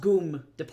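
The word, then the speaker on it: ГУМ: The Goomb, which is ironically across from Lenin's grave, spelled GYM, pronounced Goomb Store.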